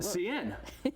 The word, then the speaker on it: Seine: Seine.